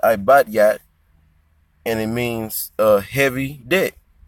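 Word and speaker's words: עבטיט: in the Hebrew, well, how you pronounce it in the Hebrew is ibadyat, and it means heavy debt.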